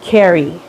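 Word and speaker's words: Kerry: I I get it I'm but say like Carrie wait hold on okay so your your name is but but you say it like Carrie Carrie am I saying it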